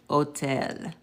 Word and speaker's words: hotel: So I already told you rule number 1, the H is silent. Okay, so that's where we get our words like, hola and hotel.